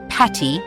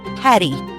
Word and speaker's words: Paddy: Fun fact, despite common mispronunciation, the correct shorthand is St. Paddy's Day, not Patty, but Paddy. Comes from Padraig, the Irish version of Patrick.